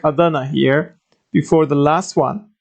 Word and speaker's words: Adana: checked the last letter is L this part Adana so here we see aa and da but